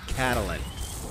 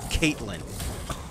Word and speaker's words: Catalin: And that's right, it's Catalin. It's not Caitlin.